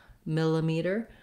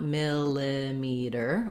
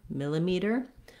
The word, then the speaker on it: millimeter: say miller or miller millimeter you just don't want it to be long you don't want millimeter or melee definitely not an e sound there so reduce vowel on